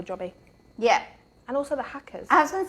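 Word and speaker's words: Haakaa: I've used Hacker. Is that how you pronounce it? Hacker.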